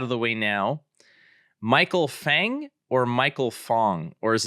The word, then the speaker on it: Feng: Well, technically in Chinese, it's Feng. So it could be like Michael Feng, but I think I've kind of grown up and everyone's been saying like Michael Fang, like kind of pronouncing it as if the E was an A.